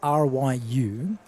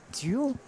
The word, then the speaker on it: Ryu: It's spelled R-Y-U, but it sounds like Duel. Yeah, I D-U-Y-U? think many will call him Ryu, as in Street Fighter, but I think it's Ryu of some description. The way that they pronounce it, it's like... I'm not going to try it, but it really sounds like a D.